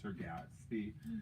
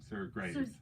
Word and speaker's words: Sir Graves: or any of them sur gatsby i'm said it wrong sir graves right sir gastly grace sir